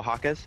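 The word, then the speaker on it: Jaquez: how do you say his name JZ oh hakz hakz hakz has 19 points oh nice Kobe for oh Kobe you had a wide open three how are you not taking that he's a hakz is a rookie right yeah where where was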